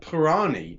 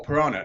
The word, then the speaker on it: Purana: of krishna according to and i'm going to pronounce this wrong bhagavata purani now or purana now not all hindus subscribe